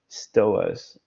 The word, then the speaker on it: stoas: Stoas. We talked about this a couple of seconds ago. It sort of rhymes with stores.